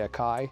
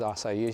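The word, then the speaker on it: açaí: say or pronunciate assai I used to say a Kai but somebody told me it was assai so I felt really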